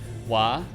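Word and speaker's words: は: is wo used for i know there's wah that's that's a good one because uh that's your pretty important grammar particle why written as ha for whatever reason gotta love it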